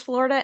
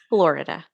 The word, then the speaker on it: Florida: Yeah, that's Fort Pierce, Florida, and Frostproof, Florida.